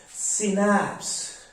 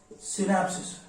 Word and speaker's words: synapse: is called as synapse ah synapse not synapses no no it is not synapsis terminate you know pronunciation